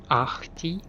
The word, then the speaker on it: Ahti: Ahti. Sorry, the H is supposed to be pronounced right.